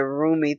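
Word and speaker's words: Rumi: I love that perception, that whole thing about roomy. Is that how you say it? Roomie. Thank you, darling.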